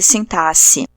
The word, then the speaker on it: sintaxe: neologismos e mudanças de sintaxe e essa palavra dá uma vontade de pronunciar como táxi porque é com x mas não pode tem que falar sintaxe Oi e o quê